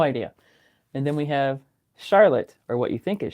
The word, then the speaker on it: Charlotte: And then we have Charlotte or what you think is Charlotte spelled like the girl's name, you know, C H A R L O T E. We say Charlotte.